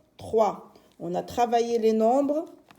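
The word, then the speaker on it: trois: Et 3, c'est T, R, TR, avec le son WA qui s'écrit OI. Et bien sûr la lettre S à la fin, lettre muette.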